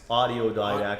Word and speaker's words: Audiodidact: But when it comes out, and I like how you spelt it because it's not autodidact. It's audiodidact. I like the way it's pronounced.